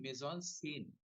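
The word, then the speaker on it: mise-en-scène: पहली बार कोइन किया इसका स्पेलिंग है माइस एन सेन एम आई एस फिर हाइन ई एन फिर हाइन एस एन ई सीन इसको बोलते हैं मेजन सेन अन से अच्छा जिसके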